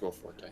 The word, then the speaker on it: Will Forte: Yeah, it's Will Forte.